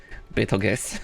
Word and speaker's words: Betelgeuse: Betelgeuse is the star that which also has the same mispronunciation. Yeah, because it's not spelled like Beetlejuice at all. It's Betelgeuse. Betelgeuse.